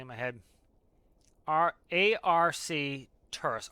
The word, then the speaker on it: Arcturus: A-R-C Turus. Arcturus is better.